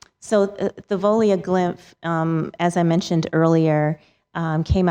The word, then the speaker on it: Thavolia Glymph: WENDY: And can you say the name for me so I don't have to pronounce it? TAMIKA NUNLEY: Yes. Thavolia Glymph.